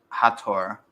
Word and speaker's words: Hathor: By the obviously, by the way, the right pronunciation is Hathor.